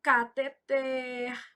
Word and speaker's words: cateter: Então, cateter, oxítona, arém.